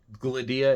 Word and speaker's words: Gladia: Gladia, it is on the second syllable, the D.